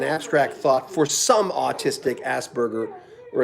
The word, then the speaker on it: Asperger: thought for some autistic asperger or as they say in england ask bird jers not making fun of that's just how they say it i think uh